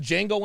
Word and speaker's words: Django: science you ever seen django unchained yeah the d is silent like a jimbei oh